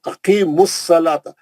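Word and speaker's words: أقيموا الصلاة: Wow silent है, दोनों अलिफ फसली है, लाम भी साइलेंट है, 4 हर्फ नहीं पढ़े जा रहे वहां, क्योंकि चारों हर्फ भी जो है कुछ भी नहीं, उस पर कोई अलामत नहीं है, कोई साइन नहीं है, सब साइलेंट वर्ड है, वो डेड वर्ड है, छोड़ देना उसको, है ना।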